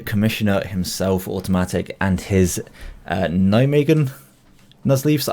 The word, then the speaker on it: Nijmegen: himself, Automatthic, and his Nijmegen Nuzleafs. I've been told by my Dutch friends that's the correct pronunciation, so if they're messing